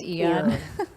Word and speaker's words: Aeon: the eon or aeon it starts with an a but it's pronounced eon we we're going to